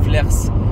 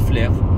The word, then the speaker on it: Flers: Flers à leur flair ça s'écrit à la fin S et les gens qui connaissent pas la Normandie prononce Flers mais ça se prononce flair voilà et c'est le